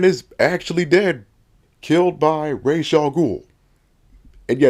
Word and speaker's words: Ra's al Ghul: In this story, Batman is actually dead, killed by Ra's al Ghul. And yeah, that's how you pronounce it, Ra's, not Raz.